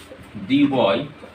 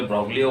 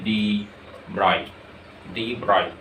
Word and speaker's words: de Broglie: করে, তার নাম হচ্ছে ডি ব্রয়, বা তোমরা অনেক ক্ষেত্রে ব্রগলিও বলো, যে উচ্চারণটা অ্যাকচুয়ালি হচ্ছে ডি ব্রয়।